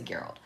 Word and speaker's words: Geralt: Is it Geralt or Gerald? I think it's Geralt. I think it's Geralt of Rivia. So, I'm just going to say Geralt.